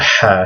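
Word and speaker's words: ح: It's a ha sound. It's not an H.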